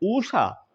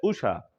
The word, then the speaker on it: उषा: ऊषा ये अशुद्ध है, उषा ये आपका क्या है?